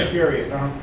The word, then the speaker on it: Iscariot: Then one of the 12, called Judas Iscariot. Did I say it right? Yeah. Iscariot.